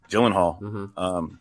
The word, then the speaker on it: Gyllenhaal: I actually prefer her to Gyllenhaal, just because I feel more for her.